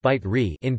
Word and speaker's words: Bicerin: Bicerin, pronounced bite re in Piedmontese, is a traditional hot drink native to